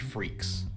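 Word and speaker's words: Freecss: Anyway, also kind of fitting that it's pronounced freaks, because that's what he and his dad are.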